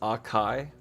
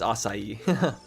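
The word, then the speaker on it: açaí: You pronounce acai as aai. Well, it's acai. I get you can pronounce it that way, but no one's going to know what you're talking about.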